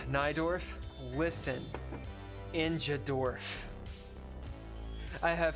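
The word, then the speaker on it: Najdorf: I think this is it yeah yeah notes pronounced naidorf listen injad dorf I have heard of the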